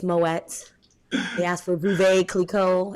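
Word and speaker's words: Moët: oh my God please they asked for Moe it's moets they asked for bube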